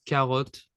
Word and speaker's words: carotte: French it's carotte. Okay, très bien. Ouais. Be careful here. The T is silent.